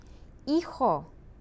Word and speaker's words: hijo: Hijo, hija, remember the H is silent, mis hijos, son, daughter, my children, mis hijos.